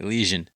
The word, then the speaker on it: Elysian: Yeah, it's Elysian. Elysian. I've heard other people. Thought I heard it pronounced differently when I watched a commercial or something.